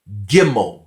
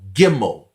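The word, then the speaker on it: גימל: have a dot in the middle this is pronounced as a hard sound it is bet this is gimel gimel this is Dola Dola then we have pay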